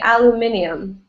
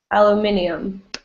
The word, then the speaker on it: aluminium: and american english so this is american english aluminum right aluminum in british english they add an i and say aluminium aluminium but in american english it's